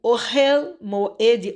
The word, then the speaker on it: Ohel Moed: Porque ao longo da Torá, o Ohel Moed, ou às vezes a gente pronuncia Ohel, né? Na verdade é Ohel Moed.